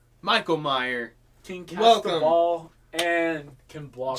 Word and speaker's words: Meyer: is Michael Meyer mayor I heard it pronounced Meyer is it Meyer that's what I've been